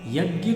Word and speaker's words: यज्ञ: यज्ञ, इसका सही उच्चारण यज्ञ है। अब लोक मत है वो भी अपने आप में, शास्त्र ही है, मूल शब्द यज्ञ है, लेकिन बहुधा हम यज्ञ ही बोलते हैं।